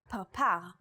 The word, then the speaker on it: parpar: In the word parpar, or butterfly, this letter is pronounced with a p sound.